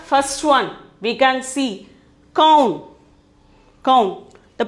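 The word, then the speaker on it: कौन: The first one we can see kaun. Kaun. The pronunciation is kaun.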